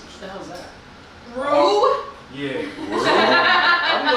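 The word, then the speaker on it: roux: Rue? Yeah. I'm like, yo, what is he Oh. saying? As an X at the end.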